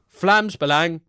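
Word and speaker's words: Vlaams Belang: Vlamsang. Oh, it is just Flams Balang. Flamsang Flams Balang. Flams Balang.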